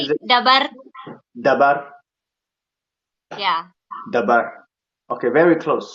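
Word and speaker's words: dhabar: We put more emphasis on the D, so we call it dabar. It's dabar, but it's more of the same. Dabar. Yeah, dabar with a D, DH basically.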